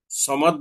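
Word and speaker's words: الصَّمَد: দ্বিতীয় আরেকটি উদাহরণ হচ্ছে আল্লাহু সমাদ। সমাদ বললে সোয়াদের উচ্চারণ হয়, কিন্তু যদি আমি সামাদ বলি তাহলে এখানে সিনের উচ্চারণ হয়ে এক হরফের স্থলে অন্য হরফ পড়া হয়ে যাবে।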